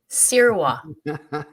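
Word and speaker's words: Sirois: do you pronounce it Sira like you're gonna like you're gonna sear meat yeah Sira how do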